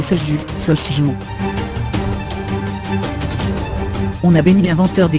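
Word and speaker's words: 소주: On a appris à prononcer Soju, Sochju.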